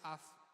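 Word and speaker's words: אף: hebreo que la palabra hebrea es AF se pronuncia AF Y por qué lo digo porque justamente deriva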